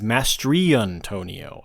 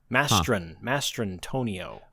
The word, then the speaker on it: Mastrantonio: I've always said her name as Mastriantonio. I've been getting her name wrong for since The Abyss. I've never known her name. Mastrantonio.